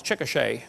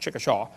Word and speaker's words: Chickasha: 2005 textbook, and I pronounced it wrong as Chickasha, not Chickashaw, Chickasha, Oklahoma.